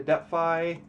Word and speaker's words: DeFi: You're part of the am I saying that correctly? The DeFi. You are saying it correctly.